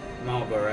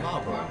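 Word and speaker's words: Malboro: Marlboro. Marlboro. Like Marlboro, the cigarettes. Yeah. well, it's spelled a little differently, but Yeah.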